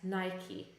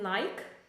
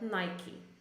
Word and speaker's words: Nike: it in English so in in English we pronounce it as Nike okay it is a Nike it is not Nike but Nike or not definitely not Nika which I pronounce this as Nica as uh